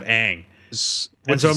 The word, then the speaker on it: Aang: In the movie, they call him like Ong, instead of Aang.